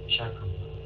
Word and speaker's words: trachoma: Epileptic, runny nose, cancer, throat, constipation, trachoma, malaria. No, no, trachoma. Trachoma, những cái âm thứ hai, stress on the second one.